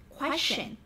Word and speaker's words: question: Yes, so with the option C, we pronounce it question. Question.